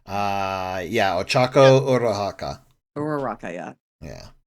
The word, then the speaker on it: Ochaco: nutshell and i think i just mispronounced her name with those pizza i think it's supposed to be ochaco uh yeah ochako or haka or yeah